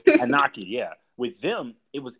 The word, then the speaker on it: Anunnaki: I'm just going to let you pronounce it. Anunnaki. Anunnaki, yeah.